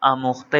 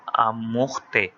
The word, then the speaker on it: آموختہ: یاد نہ تھا۔ اچھا، اب کچھ لوگ اس کو آموختہ پڑھتے ہیں کیونکہ فارسی لفظ ہے تو اس میں جو تلفظ ہے وہ ہے کو بڑی یہ کی طرح ادا کرتے ہیں، جیسے اگرچہ، کیونکہ، چنانچہ، تو اسی طرح آموختے یعنی سبق۔ مولوی صاحب نہایت